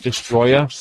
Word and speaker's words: Destoroyah: And that's because that's the English version of the name.